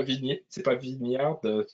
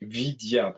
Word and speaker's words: Vidyard: C'est pas non, c'est pas Vignard, Vidyard, demande Marianne, c'est Vidyard.